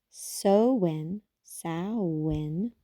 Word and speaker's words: Samhain: fairy Hills or Mists sin a Gaelic word pronounced so SN is celebrated traditionally October